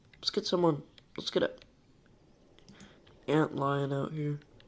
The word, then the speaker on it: antlion: Let's get a antlion out here. I kept pronouncing it Antillion for some reason. That's literally not even how you pronounce it.